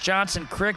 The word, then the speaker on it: Johnson Creek: You know, it's Johnson Crick, but Oak Creek. Found out that pronunciation in between games.